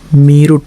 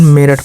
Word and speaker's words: Meerut: मीरुट, मीरुट ऐसे पढ़ेंगे, लेकिन मेरठ पढ़ेंगे इसको।